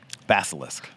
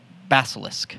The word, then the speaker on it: Basilisk: now tell me again how to say it basilisk basilisk i don't care i just want to eat